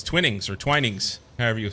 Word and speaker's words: Twinings: Is it Twinnings or Twinings? I always say Twinnings because it looks like Twinnings to me. But I never know what the proper pronunciation is for localities. The later. Twinings.